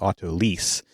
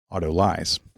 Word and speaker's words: autolyse: the pronunciation is that this term became coined by a French chef who would have said Autolyse, because that would be more of the French pronunciation, but that maybe perhaps more of the English pronunciation would be Autolyse.